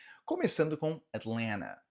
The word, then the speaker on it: Atlanta: Começando com Atlanta, Atlanta, Atlanta. Que sim, você pode pronunciar esse primeiro T de uma forma mais sutil e o segundo T você basicamente anula ele, você deixa ele mudo.